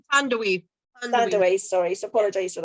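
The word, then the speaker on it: Thandiwe: I don't want to say Thandie Newton, but that's not how you pronounce her name, is it? It's Thandaway.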